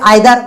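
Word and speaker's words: either: अब यहां पर देखिए किसी किसी का प्रोनाउंसिएशन इधर, कोई कोई आइदर, मैं तो भाई आइदर बोलता हूं। दोनों प्रोनाउंसिएशन अलग अलग व्यक्तियों द्वारा बोला ही जाता है।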